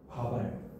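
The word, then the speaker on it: 밥알: 자, 그런데 얘는 발음을 하면 어떻게 돼? 바발 바 요렇게 되죠.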